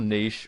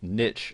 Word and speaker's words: niche: And first and foremost, you'll need to decide what your niche, or niche as some people pronounce it, is going to be.